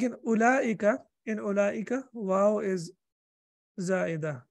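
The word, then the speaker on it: أولئك: Like in ulaika, waw is za'idah. In ulaika, waw is not pronounced.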